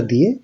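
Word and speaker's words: due: 1 হচ্ছে উনো, 2 এর জন্য উচ্চারণটা হবে দুয়ে, 3 এর ত্রে, 4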